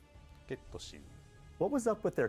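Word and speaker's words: ケット・シー: How do you pronounce this character's name? ゲットシー。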